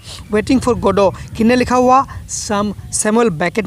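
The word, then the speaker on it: Godot: ये गोडोट नहीं है, टी साइलेंट है। वेटिंग फॉर गोडो, अब देखिए वेटिंग फॉर गोडो क्या होता है।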